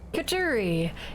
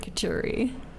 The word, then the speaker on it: couturier: Couturier. It's because it doesn't look like the word couturier. I guess couturier, but it's an R. Couturier.